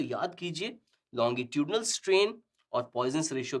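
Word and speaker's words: Poisson: तो अब देखते हैं फ़्रेंच वर्ड है जिसको शायद प्वाइजन प्रोनाउंस करते हैं बट हमारे लिए प्वाइजनोस रेश्यो चलेगा तो प्वाइजन रेश्यो ऑफ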